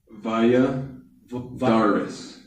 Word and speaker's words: Balladares: And uh how do you say your last name again? Via Vadaris. Via Vardis.